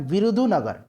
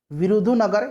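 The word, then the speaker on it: விருதுநகர்: है, तो यह है विरुधुनगर। यहाँ मैं लिख देता हूँ इसका सही से उच्चारण, विरुधुनगर या फिर विरुधुनगर भी है, ठीक है, दोनों तरह से आप याद रखेंगे, ऑप्शन नंबर बी हो जाएगा।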